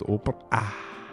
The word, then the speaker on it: Oprah: Oprah, I believe that is how you're supposed to pronounce the name, is Oprah.